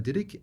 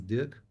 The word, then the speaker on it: Dirik: and I changed to pronounce it the original way, which is Dirik, and yeah, German, especially Germans, they see it and they think my name is Dirk.